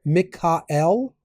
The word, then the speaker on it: Michael: so the archangels are Michael or if we're pronouncing it the ancient way M Mikael right then Raphael Gabriel